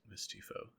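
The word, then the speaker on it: Mephisto: this timeline and then I think it's pronounced misty misty foe misty so something like that he like makes a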